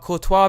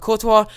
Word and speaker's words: Courtois: Balotelli, just saved there by the goalkeeper Thibaut Courtois, I do believe it's actually pronounced.